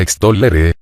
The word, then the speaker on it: extollere: La tercera palabra de nuestra lista se pronunciaba extollere, con dos Ls, o más bien con una L prolongada, que en latín vulgar